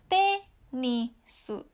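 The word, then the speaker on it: テニス: Nah, untuk bunyi atas ke bawah, ini misalnya ada tenisu, ya. Tenisu. Tenisu. Bacanya bukan tenisu, tapi tenisu.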